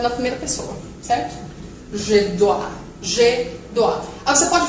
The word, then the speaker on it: dois: Porque não pronuncia o S. Não pronuncia o S. Jamais. Jamais pronuncia o S, certo? Então fica je dois.